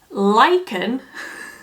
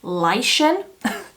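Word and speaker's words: lichen: pronounce it one moment so it was cat's Beauty space lyen it's a moss that grows on rocks in forests by water Etc thank you Cat for telling me how to pronounce that shade cuz I was definitely saying Lan and that was completely wrong I also said that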